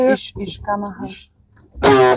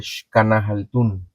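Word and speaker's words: Xcanahaltún: Iszkana Haltun. La X se pronuncia como SH, como sh, de Shkanahaltun. Iszkana Haltun.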